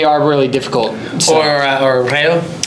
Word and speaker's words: Reo: Or Reo. Rayo, yeah, because you have to say Rayo.